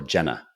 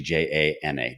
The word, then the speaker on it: Janna: G's wife is Janna he used to call her Jenna I'm like the the E is silent it's actually J na jna same thing and I